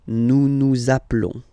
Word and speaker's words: nous appelons: Okay, final s doesn't exist. Nous appelons.